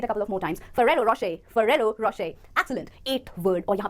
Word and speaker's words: Ferrero Rocher: So the right pronunciation is Ferrero Rocher. तो देखने में लग सकता है कि ये Ferrero हो, पर सही pronunciation है Ferrero Rocher. It is an Italian chocolate brand, okay?